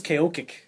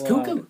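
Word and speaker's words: Koekkoek: always thought it was Kokic. I have never heard it pronounced cuckoo. It is a cuckoo. Yes. Cuckoo. Cuckoo. Yeah, I remember when he got dropped. It's like, yeah, I thought it was Coco or like Ku Kick.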